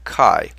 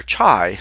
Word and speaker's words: chi: and it's the letter Kai uh many people pronounce this letter many people who don't know what they're doing pronounce this letter chai but remember chai is